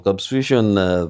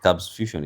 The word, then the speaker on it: Kabss Fusion: Kabss Fusion is quite confusing. The number of S's, I think one of the S's is silent.